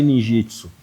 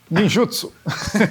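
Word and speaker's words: ninjutsu: Como se fala a comunidade Ninjitsu, ninjutso.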